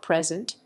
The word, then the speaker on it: present: professional it is usually used as a verb present with emphasis on the second syllable and is often accompanied